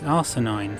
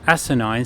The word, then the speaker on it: asinine: episode more than ever, also pronounces the word asinine as arsenine in this scene. The actress is American but is putting on a posh southern English accent to of course match Narek, but though we may pronounce glass or glass differently on either side of the Atlantic, asinine, so far as I've ever heard before, has always been pronounced in one way, so this would seem